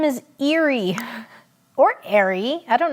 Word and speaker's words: Erie: got American covered also Eerie sounds like the word Eerie which means spooky and Halloween is spooky